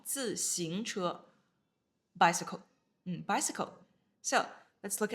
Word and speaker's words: 自行车: 自, fourth tone, 自行. Second tone, 自行车.